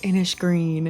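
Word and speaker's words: Innisgreen: And here is the world of Inish Green. I believe I'm pronouncing that right. I said it the other way last time and everyone corrected me. So, I think it's inish green with like a sh.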